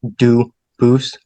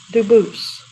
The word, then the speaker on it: Dubus: They do pronounce it dubis, but you said you pronounce it dub as the original dubus as the original French. Yep. Very well. Duboose.